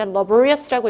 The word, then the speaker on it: laborious: 그래서 diligent의 동의어로 laborious, 얘가 이제 laborious라고 읽거든요.